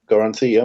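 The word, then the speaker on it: Goroncy: Age of Crisis, and with your co-editor, Jason Goronci. Did I pronounce that correctly? Goronci? Yep, Goronci, yep.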